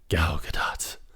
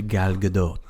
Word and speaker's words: Gal Gadot: But she follows him, and then you see the ever so hot Gal Gadot. Love it. Yes, we will never agree on how to pronounce her name.